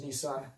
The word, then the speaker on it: Nisan: So I will continue to use Nissan as my pronunciation. I will acknowledge there are other pronunciations out there.